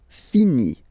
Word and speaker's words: finit: Il, elle finit. So, I-T. Final T, not pronounced.